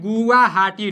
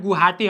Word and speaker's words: गुवाहाटी: और पूछ देगा गुवाहाटी, जिसको लिखा जाता है गुवाहाटी, ठीक है ना। तो गुवाहाटी जैसे वा साइलेंट रहता है, गुवाहाटी हम लोग बोल देते हैं।